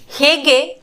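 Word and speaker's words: हैं: ಅದಕ್ಕೆ ಹೇಗಿದ್ದೀರಾ ಕೈಸೆ ಹೇ ಇಲ್ಲಿ ಹೇ ಅಂತ ಹೇಳ್ಬೇಕಾದ್ರೆ ಮೂಗಲ್ಲಿ ಮಾತಾಡ್ತೀವಲ್ಲ ಆ ತರ ಉಚ್ಚಾರಣೆ ಬರಬೇಕು ಹೇ ನೀವು ಇದನ್ನ ಜ್ಞಾಪಕ ಇಟ್ಕೋಬೇಕು ಯಾವಾಗ ಬಿಂದು ಚಂದ್ರಬಿಂದುನ ನಾವು ಉಪಯೋಗಿಸುತ್ತೇವೆ ಆ ಆ ಪದನ ಉಚ್ಚಾರಣೆ ಮಾಡಬೇಕಾದರೆ ನಾವು ಮೂಗಲ್ಲಿ ಮಾತಾಡ್ತೀವಲ್ಲ ಆ ತರ ಶಬ್ದ ಬರಬೇಕು ಹೇ ನಿಮಗೆ ಈಜಿ ಆಗ್ಲಿ ಅಂತ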